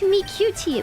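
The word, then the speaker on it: Miqo'te: It's like Mikuti from Final Fantasy. I never knew how to pronounce the name of the cat girls from Final Fantasy, the MMO. It's Mikuti, apparently.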